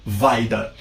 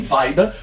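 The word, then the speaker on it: Wajda: diretores buscamos falando do mentor do mestre Andrei vaida se escreve andreseje vagina né SJ com som de i então estamos falando de André e vaida polonês e a dica que eu vou dar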